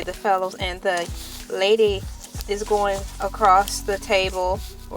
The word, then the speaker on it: ELA: It's me, LA. Pronounced like LA like the city.